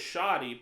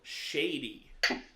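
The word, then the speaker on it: Shadi: Your name is Shoddy, but it's spelled Shady. Shady. So, all we saw... Let me clear something up. What? It's an Arabic name.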